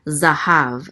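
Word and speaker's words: זהב: And a hey with a kamatz, which says as, so this is ha. And then a vet closes out the syllable, so it says hav, zahav.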